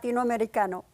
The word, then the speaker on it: Latinoamericano: I'm sorry, you're going to have to pronounce that. Latinoamericano.